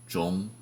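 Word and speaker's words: 中: on his chest, and that word is pronounced zhong.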